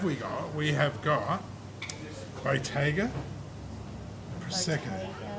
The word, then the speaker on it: Bottega: We have got Bottega Prosecco. Bottega is probably an Australian way of pronouncing it. It's not very Italian.